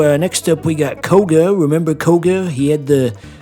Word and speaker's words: Koga: And you know, um, Koga rhymes with toga.